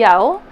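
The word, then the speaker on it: Yeoh: This is a project, or not a project, a design by Holly Yo. I think is how you say her last name, Y-E-O-H, Holly Yo.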